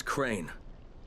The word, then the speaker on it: Crane: store no my name's crane crane crane rhymes with train and brain and s and Grain and rain and plain and the other kind of plane and and but can